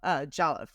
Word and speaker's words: Jollof: each culture within Africa so proud of their Jolliffe, right? Like I Well, pronounced it yes.